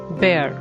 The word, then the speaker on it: bear: a noun or verb it will be pronounced as bear with a weak r sound in the end bear as a verb this